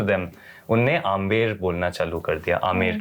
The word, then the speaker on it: आमेर: tourism के वजह से अंग्रेज आके उसको एंबर बोलने लग गए च इज the name of the stone तो एंबर नहीं वो आमेर है तो दो ए होने